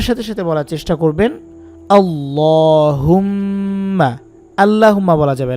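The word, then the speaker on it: اللهم: কিন্তু শুদ্ধ হবে না এটাকে বলতে হবে আল্লাহুম্মা জবরটাকে বাংলায় আকার দিয়ে বুঝা হয় সেই হিসেবে এটা দেওয়া এখন বাংলার সাথে যদি আপনি আরবি মিলিয়ে ফেলেন একটা ভাষার সাথে আরেকটা ভাষার উচ্চারণ মিলানো যায় না এক ভাষা দিয়ে ওই ভাষাটাকে ওই ভাষার মত করেই বলতে হবে এই আর কি আপনারা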